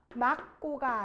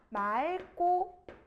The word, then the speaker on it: 맑고: 막게가 아니라 맑게. 막고가 아니라 맑고 이렇게 되는 거예요.